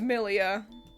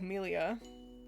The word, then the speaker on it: Millia: like that one that one is good here's milia is it pronounced that way or is it like milia I've definitely seen her before there she is